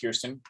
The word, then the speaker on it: Kirsten: So it is pronounced Kiersten because my wife Kiersten sent me a American Girl doll video, and they I said did?